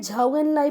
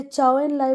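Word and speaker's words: Zhou Enlai: कई जगह इन्हें झाऊ एंड लाई बोला जाता है। कई जगह चाऊ एंड लाई बोला जाता है।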